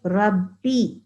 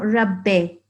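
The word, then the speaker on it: رَبِّ: very small point that when we pronounce that kisara sound we must say Robbie okay not Rubby Rubby Sydney really MA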